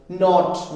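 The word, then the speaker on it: knot: के के बाद एन ए जाएगा तो के साइलेंट है नॉलेज है ना नो नॉट नॉट अब जो टाइल में जो लगाते हैं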